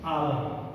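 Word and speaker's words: hour: उसी तरह से आवर, हावर आपने लिखा है, आवर पढ़ रहे हैं, इसके पूर्व भी एन का प्रयोग होगा।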